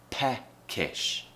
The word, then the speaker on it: peckish: mouth and then it the tongue just needs to go a little bit higher so we have a peck ish peckish and if we're